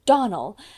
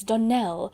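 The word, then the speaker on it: Donnell: "Clarice Almira told me that you pronounced our name Donald. Now, Miss Shirley, the correct pronunciation of our name is Donell, accent on the last syllable.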